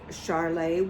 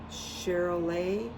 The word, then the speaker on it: Charolais: So I think it's like a French, you don't pronounce the S. Charolais.